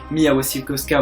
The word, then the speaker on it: Mia Wasikowska: rôle d'Alice, encore et toujours, l'incroyable, la géniale Mia Wasikowska. Je ne suis pas comme Dean the Panda et Mr. Fox, moi je le prononce bien, c'était une superbe publicité pour ma prononciation. Oui, Mia Wasikowska, voilà.